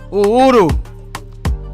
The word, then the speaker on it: Uhuru: Yeah, I said it right. Uhuru. It's Swahili.